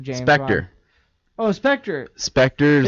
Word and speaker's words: Spectre: Spectre's the newest. Is it pronounced Spectre or Spectre? Spectre. It's Spectre? Spectre. Okay. Spectre is the new James Bond movie.